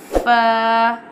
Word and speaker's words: ف: Fa pronounced from the edge of the two upper front teeth touching the inside part of the lower lip like this. Fa.